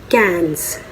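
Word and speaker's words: quinze: 15 को कहते हैं cans. So let's repeat them. I have only 10 figures, so I cannot show it, but हाथ से नहीं निकाल सकती, but let's repeat it. Onze, douze, treize, quatorze, cans.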